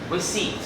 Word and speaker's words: receipt: we seat we receive if you pay attention the P is not pronounced receipt receive right so we'll